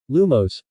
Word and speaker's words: lumos: tries then Professor Flitwick began to explain the pronunciation of the spell lumos lumos in one go lumos everyone followed suit